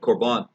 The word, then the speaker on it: korban: Now, the word korban is the English transliteration of the Greek word, which is pronounced very, very closely to it, korban.